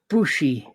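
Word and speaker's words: Busey: szy Keo Lorry Petty and Gary bushie H booie bushie him as well I told him pronunciation is shite it sounds bushy it's me British accent the film's title refers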